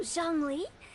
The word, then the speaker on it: Zhongli: Oh, Zhongli.